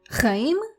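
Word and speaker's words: חיים: Another word with this ch sound at the beginning, but bear with me today. Practice makes perfect, right? So let us practice this ch sound today in all of these different words.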